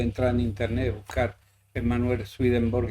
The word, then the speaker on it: Swedenborg: No me acuerdo ahora, pero tiene varios, pero vamos, eso puede entrar en internet, buscar Manuel Swedenborg y va a salir todas su bibliografía y su historia.